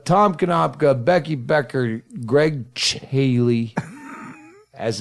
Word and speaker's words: Chaille: Our Swap, guest, Tom Konopka, Becky Becker, Ggreg Chaille, as it's pronounced.